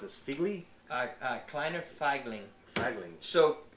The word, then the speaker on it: Kleiner Feigling: How do you pronounce this? Figli? Kleiner Feigling.